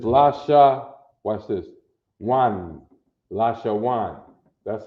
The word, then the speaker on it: La Shawan: uh lasher one because when you connect the letters the second character right in the connection gets what's called a soft sound okay a soft sound